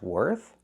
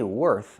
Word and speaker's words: worth: When I say worth, I have the TH. I put my tongue out. I make the air sound, no voice. Worth.